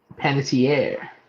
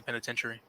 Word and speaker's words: Panettiere: Panettiere. Panettiere. I always say penitentiary.